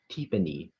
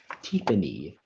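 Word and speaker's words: tiponi: Teepany. May I have the language of origin? This word comes from Hopi. Could you repeat the word, please? Teepany.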